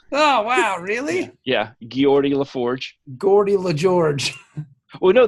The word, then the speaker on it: Geordi: I think my favorite is Gordy. Yeah. They pronounced Geordi wrong. Oh, wow, really? Yeah, Geordi LaForge.